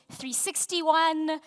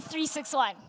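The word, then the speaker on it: 36ONE: So, sometimes it's 3601. My personal favorite is 360. Um, but it is actually 361 just to get that out of the way.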